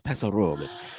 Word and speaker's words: Paso Robles: So you got to say it like the locals, Paso Robles.